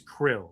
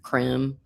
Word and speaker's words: Krem: I always want to say his name is Krill, but it's not Krill. It's Krem.